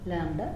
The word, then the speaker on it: lambda: ఇక్కడ B is silent కదా, lambda expression. There is no pronunciation of B.